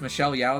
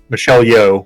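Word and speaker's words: Michelle Yeoh: one is empress Georgio because I think it's Michelle Yao that plays him her Michelle yo yo yeah okay I'm sorry for mispronouncing the name Michelle yo um she Great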